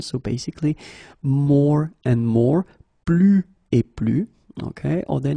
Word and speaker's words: plus: So the first example is plus et plus. Okay, so you can see that I don't pronounce it final S.